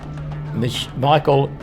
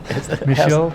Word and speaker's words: Michel: Michael Canton. Michel Canton. Michelle, it's like got Michael. You've anglicised it.